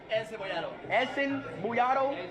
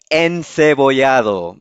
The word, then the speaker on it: encebollado: Encebollado.